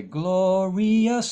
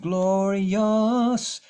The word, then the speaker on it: glorious: So glorious again, some people are wanting to say glorious song, but it's just glorious. Think of the second, think of the rius as just yes. Glorious song of old. Make it one syllable, Y-U-S or Y-U-S-S, whatever makes sense to you.